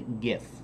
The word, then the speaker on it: GIF: the people pronounce it Jeff and I pronounce the gift and that's because gif hard G because you see what we're doing on time okay so the the the hard G in graphic graphic interchange format gift